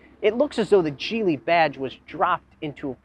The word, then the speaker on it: Geely: chinese manufacturer gili yes it's pronounced jeely not gili jili has been making